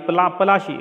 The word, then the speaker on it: पलाशी: तरह से पड़ा है, तो प्लासी का नाम है कि जैसे ये पलाशी, एक्चुअली उसका नाम था पलाशी, और जिसे अंग्रेजों ने उसको बिगाड़ कर, मतलब मिस प्रोनाउंसिएशन अपभ्रंश होकर बिगाड़ कर प्लासी कर दिया।